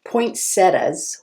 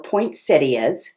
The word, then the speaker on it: poinsettias: You know, poinsettias or poinsettias, you can pronounce it either way, are a blooming plant that we see all around this time of year.